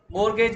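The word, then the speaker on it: mortgage: मैं बोल रहा हूं लेकिन टी साइलेंट रहता इसलिए बोल रहा हूं की बाई चांस स्पेलिंग मिस्टेक ना हो जाए मॉर्गेज बोलते हैं मैसेज ठीक है चार्ज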